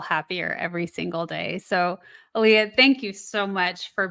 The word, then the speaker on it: Alia: Aaliyah, I am pronouncing your name correctly.